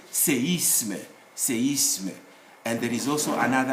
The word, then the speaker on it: séisme: But if the E bears an accent like this one, accent aigu, then this E should be heard as séisme.